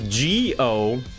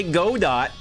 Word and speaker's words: Godot: If you guys know game engines anyway, this one is G-O-D-O-T. Yeah, Nilo knows what I'm talking about. How do you pronounce that? I say it correctly. It's Dutch.